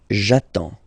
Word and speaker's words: j'attends: J'attends. Okay? You get D and S. Well, basically you don't pronounce them.